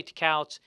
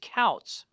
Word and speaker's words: Tkautz: is spelled t-k-a-u-t-z but the t is silent so don't say to cows it's couts melissa coutts starred as